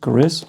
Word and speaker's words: Gris: Gris, right? Gris, not Chris. Gris.